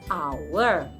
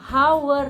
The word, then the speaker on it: hour: masih salah untuk jam kita hanya tidak usah dibaca jadi our baca sama seperti our kami aware dan our